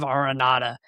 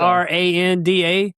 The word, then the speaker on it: Aranda: Wisconsin's Luke Fickle and Baylor's Dave Aronatada.